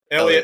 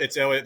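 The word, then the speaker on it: Heliot: Elliot. It's Elliot. The H is silent.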